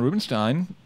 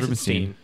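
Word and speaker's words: Rubinstein: Is it Stein? It's Ein. That's really? Steen? Stein. I thought it was Rubenstein. It's E-I-N. So well, it can go either way. Germanic pronunciation would be Stein. I've been saying Steen.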